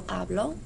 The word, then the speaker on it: hablo: For present tense, your stress is on the first syllable. You say yo hablo. For the preterite, your stress is on the second syllable. Él habló.